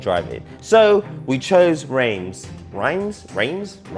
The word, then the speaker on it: Reims: Reims? Pronunciation here.